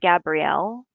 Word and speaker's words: Gabriel: So, this is pronounced Gabrielle. Um, my son's name is Gabriel and it's spelled the same way. So, it just depends on how you pronounce it. But hers, this is night of Gabrielle. It's pronounced Gabrielle.